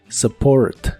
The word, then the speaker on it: support: de inglés es Support la u de esta palabra se pronuncia como una a muy suave Support Support como aclaración este verbo